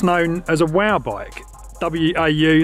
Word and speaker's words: WAU: W-A-U, that's how you say it, WAU.